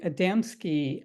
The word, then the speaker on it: Adamski: Okay, Dennis, well, you posted first, but um, the name of it is called the Adamski effect. Am I pronouncing that right, Dennis?